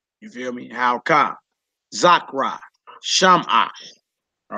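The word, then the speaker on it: שמעה: And with the Shiva being added, the pronunciation is different. Right. So you wouldn't say Zakara. Right. You wouldn't say Shamaha.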